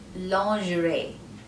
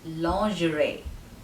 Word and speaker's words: lingerie: the letter n long the g is pronounced as j lo j g is j ri is pronounced as rey rey long gerais lingerie the meaning of this